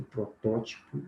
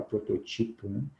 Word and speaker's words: protótipo: um termo nós vamos interior e protótipo mas costumam falar pro teu título Então são palavras a